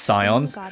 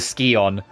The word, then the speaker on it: scion: I I know it's always pronounced scions, but Tomb Raider has rotted my head where they cuz Tomb Raider always called um they called it the skion instead of the scion.